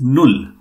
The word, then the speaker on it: null: A little pronunciation correction. It is null. Null, yeah. Yeah. And it is Funf.